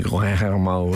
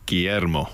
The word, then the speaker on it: Guillermo: Guillermo. I would have said that. Guillermo. What happens at the ear? Where is that going? L sound or R? Rolled R to an L. Rolled R? Guillermo.